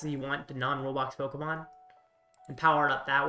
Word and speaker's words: Pokémon: Or I guess technically it's pronounced Pokemon, so Pokemon.